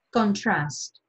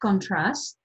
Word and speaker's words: contrast: Η λέξη προφέρεται contrast όταν είναι ρήμα, δηλαδή αντιτίθεμε, και προφέρεται contrast όταν είναι ουσιαστικό, ανεβάζω δηλαδή τον τόνο, όπως εδώ καλή ώρα, αντίθεση, άρα contrast.